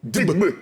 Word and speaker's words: Digbe: Comment on prononce ça, petit? Digbe.